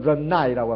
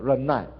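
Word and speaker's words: 忍耐: 중국어로는 런나이라고 합니다. 런나이.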